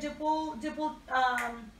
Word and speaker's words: duple: for his duple, that's how you say it, duple form, when you mean like 4-4, 4-8, yeah, so tango is, it's very common that it has like these meters.